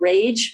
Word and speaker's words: RAYJ: started a group called Rage, which is pronounced like angry, rage, but it is RAYJ, Rebellious Young Anarchist Jews.